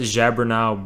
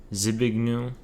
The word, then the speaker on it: Zbigniew: How did I pronounce it? Zabernau Brzezinski. It's Zbigniew. Why did I say Zabernau?